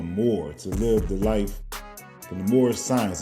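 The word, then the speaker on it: Moorish Science: to live the life more science. Am I saying it right, brother? Yeah, you can say uh yeah, you can say more science.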